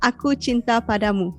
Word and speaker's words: aku cinta padamu: Okay, in Malay it's Aku Cinta Padamu. Aku cinta padamu. And then the other one I said was Aku cinta kamu, right? Yes. Without pada. Yeah. Aku cinta padamu, aku cinta kamu.